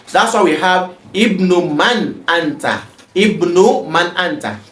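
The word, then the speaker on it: ابن: The word Ibnu begins with the Hamza, Hamzatul Wasl, and this Hamza is to be pronounced if it begins a sentence. That's why we have Ibnu Man Anta.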